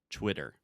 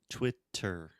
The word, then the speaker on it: Twitter: So when we say Twitter, if you ask an American, how do you say this social media platform? Maybe they will say Twitter, with a true T, like table, time, really making Depends on the region that this American lives? No. Or is it No, it actually depends on the stress of the syllable.